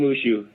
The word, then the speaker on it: Mushu: the light of king mooshu the first thing i want to ask is am i pronouncing your name correctly yes you are okay king mushu just like a dragon from mulan okay all right now